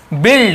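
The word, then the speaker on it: build: आपको बताने वाला हूं देखिए बिल्ड इसे वाइल्ड नहीं पढ़ेंगे क्या पढ़ेंगे इसे बिल्ड तो ये चीज आप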